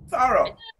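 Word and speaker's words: thorough: to do what i'm spelling spelling again t-h-o-r-o-u-g-h taro an lmt scenario so so i have a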